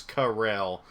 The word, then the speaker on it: Corel: I'm pretty sure it's Corel. That's how I've always pronounced it, at least, because it's kind of like coral, but like spelt differently.